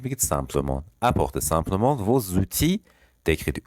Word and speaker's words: outil: apporter simplement vos outils d'écriture. outil که الش تلفظ نمیشه یعنی ابزار، وسیله.